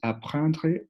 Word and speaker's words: apprendre: Entonces, podemos ver letra E final que no se pronuncia. En lire podemos otra vez ver letra final que no se pronuncia y al final apprendre una letra E final que tampoco se pronuncia.